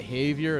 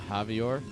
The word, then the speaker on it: Javier: it's kind of like when I learned that Havier is pronounced Havier not Javier I was like wait a minute that's just